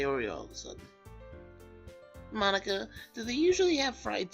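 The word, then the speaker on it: Monika: all people because it's right in your name Monica mm-hmm that's how you say my name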